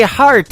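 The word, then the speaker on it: Harte: That is the latest single from my good friend Robbie Hart.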